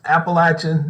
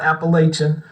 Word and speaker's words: Appalachian: And it is pronounced Appalachian, not Appalachian.